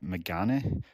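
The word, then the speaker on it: Megane: are telling us that it's pronounced uh Megan which is maybe getting not even wrong uh Japanese for glasses so that makes a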